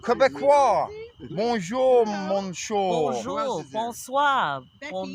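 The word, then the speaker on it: Québécois: Quebecois. Quebecois.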